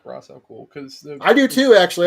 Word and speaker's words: Ra's al Ghul: Don't you mean Ra's al Ghul? They say it wrong. Yeah, it's Ra's al Ghul. They always say it wrong in this, and it bugs me. Ross.